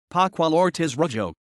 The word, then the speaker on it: Pascual Ortiz Rubio: Pascual Ortiz Rubio, Spanish pronunciation, Pascual Ortiz Rubio, March 10, 1877 to November 4, 1963, was a Mexican politician and the President of Mexico from 1930 to 1932.